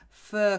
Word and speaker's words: fir: the next one is fir cones against fur is another little homophone which sounds like fur so fur cones okay